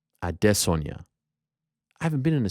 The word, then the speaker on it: Adesanya: Note the pronunciation. Adesanya.